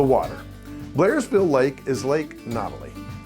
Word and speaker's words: Nottely: Blairsville Lake is Lake Nottely. Locals say Nottely.